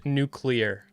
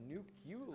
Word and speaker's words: nuclear: It's actually pronounced nuclear. Yeah, you just said Nuke-You-Ler.